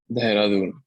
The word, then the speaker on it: Dehradun: How do you say that? Dehradun.